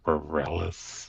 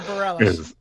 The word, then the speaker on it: Bareilles: So, "Love Song" by Sara Bareilles, I think that's how you pronounce it. Yeah, Sara Bareilles.